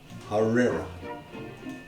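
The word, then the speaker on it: harira: is a little shaky it's h a r i r a harera okay har for Herrera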